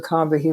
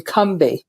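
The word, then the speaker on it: Combahee: fact uh is that we've been pronouncing it incorrectly all these decades it's actually Combi as if it's too syllable with no a in the middle and I heard a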